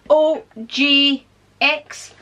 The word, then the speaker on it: OGX: We have a colour retention conditioner by, people keep telling me how to pronounce this and I don't know, OGX, OGX, that's it there.